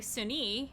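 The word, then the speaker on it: Sune: are religious know that sunni is i'm sorry sunni i believe is actually technically how it's pronounced is also known as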